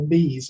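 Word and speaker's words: BEESS: The Bureau of Exceptional Education and Student Services, or BEAS, as the acronym is pronounced, has a technical assistance paper, and I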